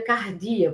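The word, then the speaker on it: καρδία: em hebraico leve e em grego se pronuncia cardia, por isso que cardiologista, cardíaco.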